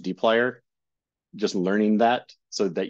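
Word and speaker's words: dplyr: this weird smash together string of letters is pronounced deer just learning that so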